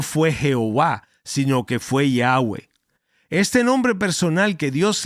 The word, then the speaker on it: Yahweh: Ahora, el nombre Yahweh, que en realidad nunca fue pronunciado por los judíos, normalmente se escribía simplemente con las consonantes y hwh. Cuando eso se latinizó, se le añadió a la forma de Y a H, las vocales y qué resultó, Jehová.